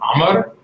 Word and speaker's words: Omar: And in Arabic, it's actually pronounced Omar, but we just stick with Omar.